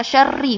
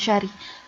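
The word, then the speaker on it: شَرِّ: Nah, kemudian hal yang lainnya tadi, jangan lupa syarri, bukan syari.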